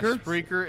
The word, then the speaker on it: Spreaker: Yeah, Spreaker and YouTube. Sound like you mispronounced speaker for a second.